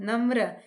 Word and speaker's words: नम्र: न म, ये पदेन र, नम्र। अब इसे हम न म र नहीं पढ़ेंगे क्योंकि ये पदेन र है, ये र का एक रूप है, इसलिए हम पढ़ेंगे र, नम्र।